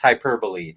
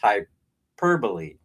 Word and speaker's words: hyperbole: and enjoy it and listen to all the hyperbole that I spew. Actually, it's pronounced hyperbole. That's right. It's spelled hyperbole. It looks like it should be pronounced that way, but it's actually pronounced hyperbole.